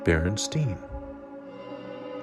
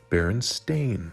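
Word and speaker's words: Berenstain: t i n and those that do also pronounce it barenstein with that being said that is in fact again incorrect it is actually spelled b r n s t a i n and pronounced accordingly Baron stain Bears okay now let's get a little more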